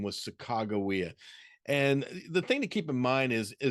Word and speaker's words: Sacagawea: believe the best name the best way to pronounce her name was sakagawea and the thing to keep in mind is